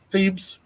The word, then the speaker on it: Thebes: This area right here is called, how do you pronounce that, Dan? Thebes.